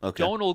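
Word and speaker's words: Domhnall: has a son whose name is Donal and Donal Gleason is in tons of stuff this year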